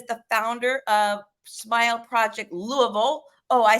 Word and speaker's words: Louisville: Michael Ray, if you don't know him, he is the founder of Smile Project Louisville.